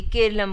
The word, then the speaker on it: केरलम: दरअसल केरल नाम अंग्रेजी उच्चारण के तहत है। जबकि मलयालम भाषा में इसे केरलम बुलाया जाता है।